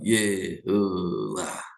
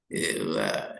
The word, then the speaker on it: YHWH: Akhirnya Bible manuscript containing the original name of God in Hebrew with vowel Yehuwah. Yehuwah.